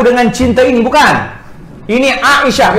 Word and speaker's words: Aisyah: Ini Aisyah. Orang Melayu dia panggil Aisyah A tu kan, padahal ejaannya Ain Alif Hamzah.